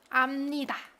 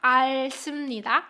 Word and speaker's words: 압니다: 그 단어를 이미, adverb, 이미, and then you can say 압니다, right? Not 알습니다. It's not 알습니다.